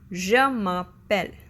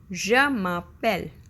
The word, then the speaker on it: je m'appelle: The most often used reply is Je m'appelle. Je m'appelle, which literally means I call myself. Okay? To properly pronounce it, it sounds like je m'appelle, je m'appelle, je m'appelle.